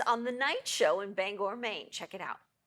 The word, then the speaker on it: Bangor: There's a certain sensitivity about how you pronounce the name of this city. Yeah, it's Bangor. All right, Bangor.